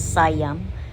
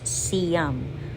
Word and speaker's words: Siam: most of the people I hear them Uh pagpronounce sa as sayam But some of them siam but if you check sa Google Uh correct pronunciation is siam so This is the cam square sometimes They